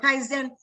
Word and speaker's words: Kaizen: Kaizen.